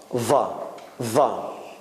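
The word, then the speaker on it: ظاء: And this is somewhere between Z and H. It is not za and it is not H. It's va.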